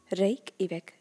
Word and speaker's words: Reykjavik: මෙතන J අකුර silent pronounce වෙන්නේ Reykjavik යනුවෙන්.